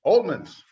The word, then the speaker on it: Oltmanns: all right tonight we've got a couple presentations I've got one about Wilhelm oh man how we pronounce it all movements oldman's right right but before we do that I